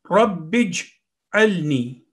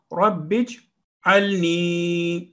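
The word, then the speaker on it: رب اجعلني: The next word is Rabbij'alni. Rabbij'alni. Rabbij'alni. Ra is 1 second rule, fatha, ba with tashdeed, with the kasra, and alif is silent here because there is a sukoon letter, joining letter, jeem.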